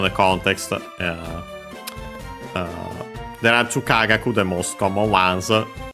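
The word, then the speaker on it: 科学: It can be two based on the context Then I've two Kagaku the most common ones. Both accent on the first mora.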